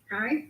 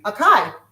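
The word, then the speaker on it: achai: Akai. Akai.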